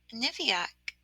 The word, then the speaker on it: Niviak: Then she stopped playing for a moment and thought to herself, my name is Niviak, she said, pronouncing the k just as she had been taught to.